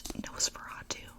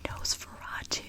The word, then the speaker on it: Nosferatu: I believe it's Nosferatu. I was saying it wrong for a while.